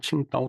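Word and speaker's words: 青岛: 중국 발음으로는 칭다오 통지 실험학교라고 그랬죠.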